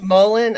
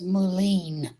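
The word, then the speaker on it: mullein: And it's Mullen. Okay, that's how you say it. I'll probably still pronounce it wrong. Yeah, I always thought it was Moulin.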